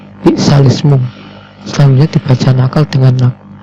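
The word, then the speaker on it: بئس الاسم: yang berbunyi his alismu cara membacanya yaitu bi'salismu sambil dibaca nakal dengan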